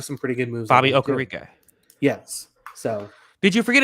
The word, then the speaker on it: Okereke: Bobby Okereke. Yes. So did you forget his name, or did you not want to have to pronounce his name? I almost said Okiki, and I was like, no, that's wrong.